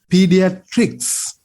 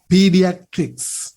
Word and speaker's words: pediatrics: It should be pediatrics.